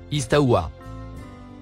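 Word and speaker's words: استوى: mot en surbrillance bleu se prononce istawa racine et verbe saoya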